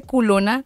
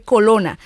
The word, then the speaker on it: colona: Ah, bueno, pero es que no se dice culona porque el rabito es grande, sino se dice colona. Solo que le han puesto un poco de morbo y a la palabra le han agregado lo otro, pero es colona, así que no te